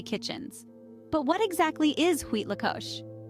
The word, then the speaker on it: Huitlacoche: let's unravel this mystery together h l Co pronounced wheat Lao is a culinary curiosity that has captivated the